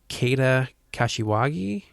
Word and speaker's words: Keita Kashiwagi: But I believe it's Keita Kashiwagi. Nope, that's the proper way of doing it.